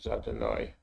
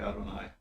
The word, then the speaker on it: Adonai: the de Bear yeah that usually pronounce Adonai sorry Adonai yeah you although when you're not reading it in prayer usually a lot of people say Hashem here since we're learning